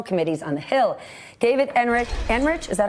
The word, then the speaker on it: Enrich: David Enrich, is that how I pronounce it?